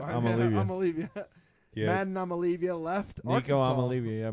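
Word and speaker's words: Iamaleava: I'm Olivia is how you say it. I'm Olivia. Olivia. Yeah. Madden Amalivia left Nico Arkansas.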